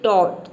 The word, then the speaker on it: taught: वहां पे ए Yeezy H को आपको औ प्रोनाउंस करना है एग्जांपल देख लेते हैं यहां पे देखिए टॉ टी का हो जाएगा ट और ए यडी